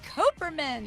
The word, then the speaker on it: Kuperman: First of all, we've got Kuperman Yay. to my Thank left. you for pronouncing my name right.